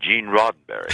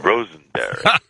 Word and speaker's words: Roddenberry: I mispronounced his name. I called him Mr. Rosenberry, and he, in turn, also made a mistake in pronouncing my name.